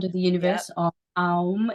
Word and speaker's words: Om: Om is actually a 3-syllable sound, and then Gum is